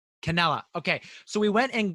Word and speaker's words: Cannella: um cantela and is that correct how i pronounced your name mark mark canella canela okay so we went and got mark canela